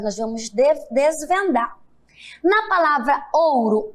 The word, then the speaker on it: ouro: Pois é, em algumas palavras, o O também terá som de U. Mas observe aqui agora, olha só. Estão achando complicado? Vamos desvendar agora esse mistério. Leiam aqui comigo. Ouro, cachorro, povo e touro.